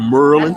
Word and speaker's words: Maryland: on brother listen uh university of merlin uh is what i represent and you know he from because that's how you pronounce it maryland you from you from